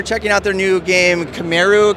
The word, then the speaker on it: Kamaeru: and uh we're checking out their new game camaru kimaru yeah camaru and uh it is a um uh it's